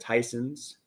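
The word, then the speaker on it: Theisen's: a big shopping area you got tysons it looks like thyesens but i've been told it's pronounced tysons if i'm wrong comment down below to let me know i'm wrong but i'm pretty sure it's tyson's and you got some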